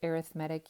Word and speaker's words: arithmetic: that's how it's pronounced arithmetic you can say arithmetic they're spelled the same but in this case it's an adjective arithmetic sequence we are going